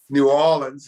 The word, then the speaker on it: New Orleans: new so new orleans is a more proper pronunciation new orleans is a correct pronunciation new islands you know